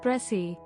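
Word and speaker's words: précis: speech bracy writing preci is the chest or main theme of a passage expressed in as few words as possible apraci is a french word pronounced pressy connected with the english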